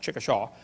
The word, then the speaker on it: Chickasha: 2005 textbook, and I pronounced it wrong, as Chickasha, not Chickasha, Chickasha, Oklahoma.